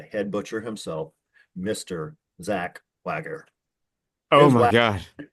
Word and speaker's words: Wager: Zach Wagger. Oh Is my Wag God. Well, technically Wager, but you know Wager?